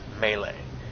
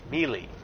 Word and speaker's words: melee: you say that word, melee. To me, it's pronounced M-A-Y-L-A-Y. But I've got some people who pronounce it melee because of the way it's spelled.